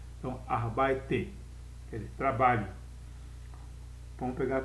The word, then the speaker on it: arbeite: Lembre-se que E no alemão, E no final, eu tenho que pronunciar. Diferentemente do inglês, que E no final não se pronuncia, no alemão o E pronuncia. Então, arbeite, quer dizer, trabalho.